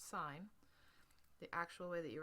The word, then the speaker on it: sine: S written short s i n not pronounced sin. It's sign.